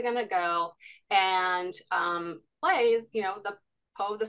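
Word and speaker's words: Pai: called is it pronounced play p a i yeah exactly it's a fun uh take on the name play exactly yep but using play with AI and yeah it's kind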